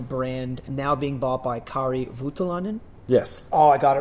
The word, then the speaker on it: Kari Voutilainen: and about the brand now being bought by Kari Voutilainen. Yes. Oh, I got it right. I got the Nice.